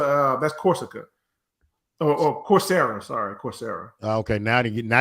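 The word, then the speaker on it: Coursera: a it's a uh that's Corsica oh oh corsera sorry corsera okay now now you got to spell it yeah o Ur r s e r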